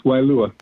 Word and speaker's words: Waialua: Thomas in Waialua, Hawaii. Am I saying it right, Thomas, on Facebook? You just said it a little bit slow. It's Wailua. Cool.